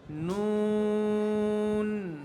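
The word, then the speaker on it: نون: মিম মিম তারপরটা দেখো এক নোয়ালা নুন নুন নুন নুন নুন নুন নুন এভাবে ঠোঁট গোল হয়ে যাবে নুন বলার সময় কি করতে হবে ঠোঁট গোল হয়ে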